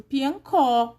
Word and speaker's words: piancó: E o O acentuado fica có mesmo, piancó.